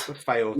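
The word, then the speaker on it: Fylde: That club that Joe Cardle also played for that I don't know how to pronounce. AFC Filed? Filed.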